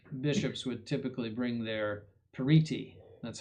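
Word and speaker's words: periti: So for example, the the bishops would typically bring their pariti, that's how you pronounce that, a partos, that means an expert.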